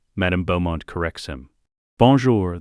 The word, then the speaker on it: Bonjour: Bonjour. Madame Beaumont corrects him. Bonjour, the R is softer. Draco tries again, fails. Gets frustrated, Hermione reaches over, takes his hand. Like this, Draco. Bonjour.